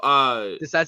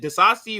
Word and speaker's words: Disasi: Disasi or Diasi? I don't know how to say his last name. No, Disasi. Yeah, you said it right.